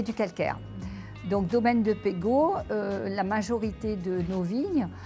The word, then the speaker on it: Pegau: toutes les langues donc on prononce Pego ou pego en provençal mais c'est un nom